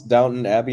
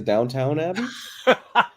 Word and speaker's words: Downton Abbey: Did he pronounce Downton Abbey as Downtown Abbey?